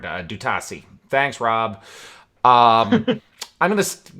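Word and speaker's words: D'Utassy: Dutasi is how you pronounce the colonel of the Garibaldi Guard. Dutasi.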